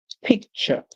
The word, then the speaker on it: picture: Then Ture in English actually says ch, like in the word picture.